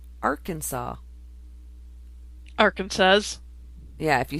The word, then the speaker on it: Arkansas: Okay, in Arkansas, it is illegal to mispronounce Arkansas.